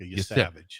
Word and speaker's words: Yesavage: Yes, Yesavage. It's like the word savage with YE ahead of it. Yesavage.